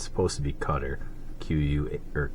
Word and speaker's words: Qatar: another country that a lot of people uh mispronounce they call it Qatar um it's supposed to be cutter qu or q a t a r um